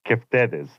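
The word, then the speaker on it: κεφτέδες: It's Keftedes. Keftedes? Yeah, but like the D is more like a TH sound. Keftedes.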